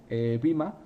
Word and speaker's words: vMA: de Windows, podéis instalaros Vima. Vima se escribe VMA y es una appliance también de nuevo de VMware para poder gestionar las infraestructuras de vSphere.